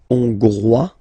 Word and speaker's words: Hongrois: Okay, Hongrois, Grois, Hongroise. Okay, so here final S not pronounced for the masculine form, and then you pronounce it here for the feminine form.